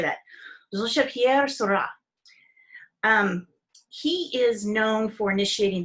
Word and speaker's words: Georges Pierre Seurat: This one guy, it looks like if I was pronouncing it English, It looks like Georges Pierre Seurat, okay? But it's pronounced Georges Pierre Seurat.